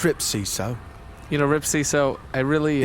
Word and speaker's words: Rip Seeso: pull egag in a cube well you know ripo I really I really appreciate it's ripo you know ripo I really uh it's ripo